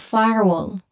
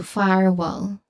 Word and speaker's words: firewall: The common mistake of blending it into firewell uh it obscures the distinct parts.